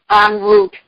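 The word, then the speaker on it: en route: and ro ute it's the french word is pronounced on route on route book or get it off the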